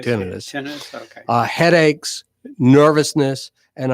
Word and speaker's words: tinnitus: Some people pronounce it tinnitus, but it's really tinnitus.